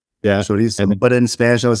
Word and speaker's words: chorizo: Well, in English, I would say chorizo. Yeah. Chorizo.